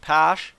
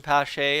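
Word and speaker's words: Pasche: the game is the goaltender's name is just Posh not even pashe as it would probably be pronounced by my standards here in Canada but he'll just take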